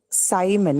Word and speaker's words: Simon: should be there in Simon as well. But we're saying Simon, it's I, not E, right? It's written as I using the letter I, but it's not pronounced E. It is pronounced I.